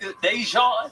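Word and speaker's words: Daegen: Dejan.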